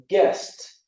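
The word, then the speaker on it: guessed: because I'll explain it so it would be guess to guest or relax with that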